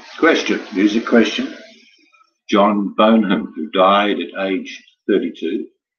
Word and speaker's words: Bonham: Megan Fox is saying, is your pronunciation of Bonham correct, or did you say Bono? No, Bonham, B-O-N-H-A-M.